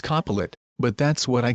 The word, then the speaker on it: Copilot: I know it's pronounced Copilot, but that's what I call him, Copilot.